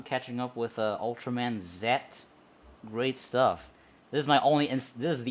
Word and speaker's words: Ultraman Z: up with uh ultraman zet great stuff this is my only and this is the only instance as well that i pronounce that letter as set because in the show it's called and yeah that's why